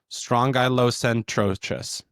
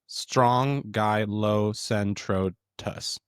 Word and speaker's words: Strongylocentrotus: So the purple sea urchin scientific name is Strongylocentrotus. Try again. Yeah. Strongylocentrotus. Strongylocentrotus.